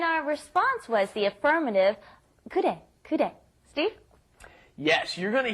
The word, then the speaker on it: 그래: 그래. It's almost a D sound, isn't it? It's in between an R and an L, which almost kind of comes out like a D sound.